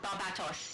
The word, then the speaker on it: Barbatos: Barbatos. You see, they're definitely on my side. That's clearly the spelling for my pronunciation.